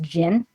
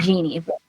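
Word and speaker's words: jinn: so he's cursed by I think it's pronounced Jin not Genie by Jin um to become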